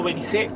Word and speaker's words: Belice: Vamos a recorrer Belice, que buscamos si era Belice o Belice o Belice, no sé, pero es Belice. En español y en inglés se escribe con Z, así que por eso lo pueden ver con la C o con la Z.